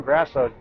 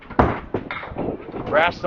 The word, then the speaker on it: Grasso: Another high character person here, Tom Grasso, true gentleman. Grass with an O.